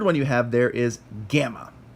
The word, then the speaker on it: gamma: you have there is gamma gamma makes a good sound never a soft G never a good sound always a good now if you put